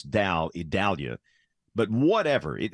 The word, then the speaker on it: Idalia: Hurricane Center first off we know that you don't say I it's e which makes no sense because it's the I storm but it is e